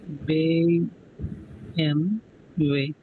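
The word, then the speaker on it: BMW: फोगिल मी्स bird next is डब्ल्यू डब्ल्यू is pronounced S way example what is this PM वे नौका माल once again bay एम वे बेएम way what is बेमवे automobile company या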